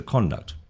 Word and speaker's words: conduct: If you're using it as a verb, it's generally on the last syllable. Another example is conduct. So, conduct, what is conduct?